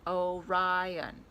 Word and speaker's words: Orion: is called the hunter the hunter's name is orion you say it like this orion he can be seen